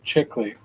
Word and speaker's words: Chickilly: Rider movie yeah that was a good movie pronounce my last name chickley what kind of name is butchered Italian before